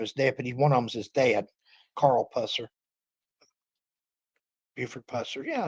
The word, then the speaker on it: Buford Pusser: Buford Pusser.